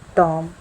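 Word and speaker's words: tomb: टॉम, टॉम का मतलब होता है समाधि।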